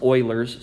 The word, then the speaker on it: Euler: It's pronounced Euler's, so if you want to sound like you know what you're talking about, say Euler's.